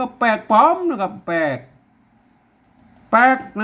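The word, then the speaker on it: แปลกปลอม: อ่าน ลั่น ลิ้น นะ ครับ อ่าน ว่า แปลก ปลอม มัน มา อ่าน มัน บ่ อ่าน แล้ว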